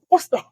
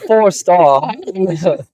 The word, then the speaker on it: Forstall: weren't even forall yeah it's spelled just like that forall four star Forstall double forall yes fourar not four star okay so we're basically